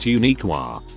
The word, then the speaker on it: Uniquia: Uniquia. Pronounced Uniqua.